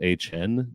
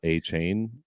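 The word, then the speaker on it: Achane: who apparently is HN, not A Chain.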